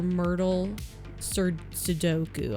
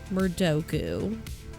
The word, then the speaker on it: Murdoku: Your Myrtle Sudoku. I almost said it wrong. Well, I know I said it wrong. Your murder Sudoku. It's not a Myrtle. That's a different thing. Murdoku.